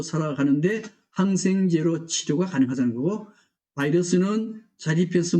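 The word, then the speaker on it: virus: 원인데 원래 바이러스는 라틴어의 비루스에서 왔어요. 그래서 뭐 영어 발음도 비루스입니다. 영어 발음은 바이러스고 독일어나 러시아나 그다음에 라틴어는 비루스였어요.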